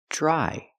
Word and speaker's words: dry: Remember, dr together makes a j sound like juice and jump. Dry.